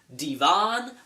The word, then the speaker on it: Devin: There's a hot aunt that happens to date the assistant principal named Devin, who claims his name is Devon, but we're not buying it because it's spelled Devin.